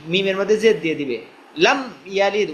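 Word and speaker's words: لم يلد: এরপরে লাম ইয়ালিদ ওয়া লাম ইউলাদ, এখানের মধ্যে অনেক ভাই ভুল করবে, সেটা হলো লাম ইয়ালিদ ওয়া লাম ইউলাদ, লামি, মিমের মধ্যে জেদ দিয়ে দিবে, লাম ইয়ালিদ উচ্চারণ একবার হবে, লাম ইয়ালিদ ওয়া লাম ইউলাদ।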